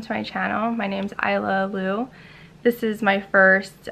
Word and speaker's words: Isla: Just to start off, my name's Isla Lu. The S is silent in my name, spelled I-S-L-A.